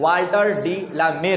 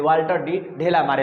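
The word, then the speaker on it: Walter de la Mare: डी ला मेर है, जो शॉर्टकट में लड़का सब इनको बात बनाने के लिए वाल्टर डी ढेला मारे लोग कहता है, लेकिन कहना भी गलत है वो चीज़, क्योंकि प्रोनाउंसिएशन फिर आपका गलत हो रहा है।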